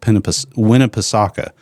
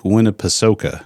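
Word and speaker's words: Winnepesaukah: So, but I call it Lake Penip Winnipegasa. And everybody says, "No, that's not how you say it." So, it is Lake Winnipeoka is how you say it.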